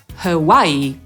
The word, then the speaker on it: Hawaii: I Hawaje, które są wydawałoby się bardzo proste, a tymczasem po angielsku to słowo wymawiamy przez 3 sylaby: /hə wa ɪiː/ i akcentujemy tę drugą – Hawaii /həˈwaɪiː/.